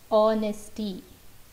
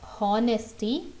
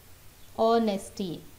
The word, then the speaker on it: honesty: The other word ಹಾನೆಸ್ಟಿ, ಈ ಹಾನೆಸ್ಟಿಯಲ್ಲಿ ಹಾನೆಸ್ಟಿ ಅಂತ ಹೇಳಬಾರ್ದು, ಹೆಚ್ silent, so it becomes honesty. I repeat, it is not honesty, it is honesty. H is silent in the word honest.